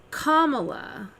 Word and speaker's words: Kamala: And actually, when I heard Trump say that, I thought the wrong was when he said Kamala. But that's actually the correct pronunciation. Her name is Kamala.